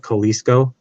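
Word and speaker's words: Kolseco: called kalisco Inc AOL k-o-l-s-e-c-o is how you spell it Kalisto um and uh I used their Authority so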